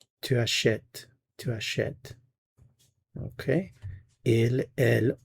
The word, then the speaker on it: achète: So where you do have the E accent grave, you do hear the vowel sound. If it's just the E, there is no sound. So achète, you hear it. Achetons, you don't hear it.